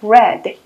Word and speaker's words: read: 있는 거 read가 아니라 read, 과거 시제가 되겠습니다. 과거 시제. 즉 불규칙 동사 되겠어요. 발음만 read에서 read 이렇게 바뀔 뿐 모양은 똑같이 R-E-A-D를 유지하고